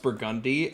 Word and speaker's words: Burgundy: The way you're saying it, because Burgundy's a word, but it's just like when people say Burgundy for the New Orleans street, but it's actually pronounced Burgundy, and people think we're having a stroke.